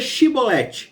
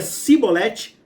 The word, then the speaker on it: Xibolete: de Gileade lhe diziam Então diga Chevrolet E se ele dizia simolete não conseguindo pronunciar corretamente a palavra eles o agarravam e